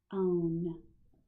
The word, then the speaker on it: bone: Now we're talking about O consonant E with a long O, and the base word is one syllable, bone. So don't forget about him at the end, right?